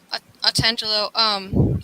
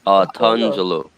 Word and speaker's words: Otangelo: It's Otangelo. Otangelo. Okay. No. You pronounce it actually more correct than Otangelo. Otangelo? Yes, that's correct.